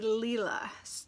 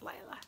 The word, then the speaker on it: Leela: and the designer's name is actually leela so it's leela studios i can't remember whose podcast i watched but they talked about it being leela and not lyla so i am very